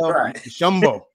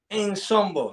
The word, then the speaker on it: Nshombo: You got to pronounce the N slightly. Okay, all right. All right, got you. Nshombo. I thought the N was silent, but it ain't that silent. It's pretty loud. Yep, it's in there, but slightly.